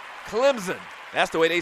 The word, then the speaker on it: Clemson: And it is pronounced Clemson. The S kind of sounds like a Z. Clemson.